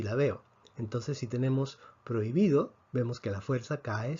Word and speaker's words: prohibido: pero hoy pido atención muchos hablantes si pedimos que se paren esta palabra en sílabas dirían pro y me do sin embargo según la academia para efectos de si la veo esta